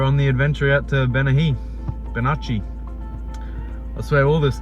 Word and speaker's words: Bennachie: for a hike at a place called benihi it's spelled benaci I've never been on